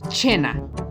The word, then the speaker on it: cena: español como cena pero en italiano se lee como china porque eso se está seguida por una e u otro ejemplo sería